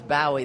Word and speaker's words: Bowie: other day my God that's that's how they pronounce it in England is Boi they they were commenting on his death and